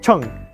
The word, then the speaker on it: 称: And like before, it's all about pronunciation. How you would say scale is cheng.